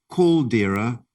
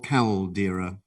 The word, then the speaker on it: caldera: now you can have two pronunciations for your word you can have either culdera or caldera caldera c a l d e r a caldera